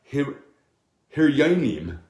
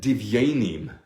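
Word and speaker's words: דביונים: It says, beautiful, is read divyanim. Instead, you say divyanim like doves. Divyanim, how do you say doves in Hebrew? Yanim. Divyanim. Doves, divyanim. Dove's dung, divyanim. It's not hiryanim. A heart sounds like a mountain, like dunghill, is rather divyanim.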